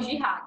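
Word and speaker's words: جهاد: A gente tem que saber que uma guerra santa é uma jihad, que eles chamam, né? No mundo islâmico, uma guerra santa seria uma jihad, que eles chamam. Jihad. Seria a pronúncia correta.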